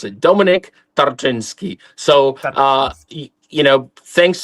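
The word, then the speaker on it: Tarczyński: Is that right, Tinski? It's not It's not easy to pronounce it. It's Tartinsky.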